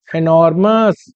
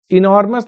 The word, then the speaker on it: enormous: एनॉर्मस, इनॉर्मस नहीं बोलते, इसका प्रोनाउंसिएशन होता है एनॉर्मस। ई का प्रोनाउंसिएशन ए होता है।